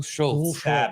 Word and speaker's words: Schulz: You pronounced the first name wrong, too. It's Schulz.